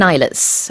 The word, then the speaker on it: islets: 가운데에 있는 S는 묵음입니다. 그래서 you never say islets. No, you do not. It is silent.